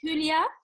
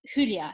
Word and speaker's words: Hülya: Yes, it's Hülya. I have got like double dots on the U, like a German letters. Yeah. So it's Hülya, yes.